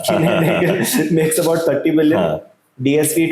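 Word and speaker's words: Kuehne + Nagel: I looked up the pronunciation. Kine Nagel makes about 30 billion.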